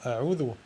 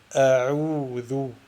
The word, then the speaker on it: أعوذ: l'ain, qui est l'ouaou, les erreurs qu'on entend souvent en prononçant une lettre de prolongation, est de l'accompagner avec une runna, qui donne exemple dans a'oudhu, a'oudhu, a'oudhu. Wassahih est la façon juste pour prononcer la lettre de prolongation sans le runna et a'oudhu.